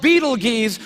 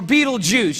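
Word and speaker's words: Betelgeuse: heard about this star it's called Beetle geese or Beetle Juice you can pick your pronunciation I'm obviously going with Beetle Juice and Beetle Juice is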